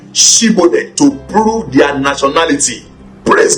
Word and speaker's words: Shibboleth: If he said no, then said they unto him, Say now Shibboleth. And he said Sibboleth, for he could not frame to pronounce it right.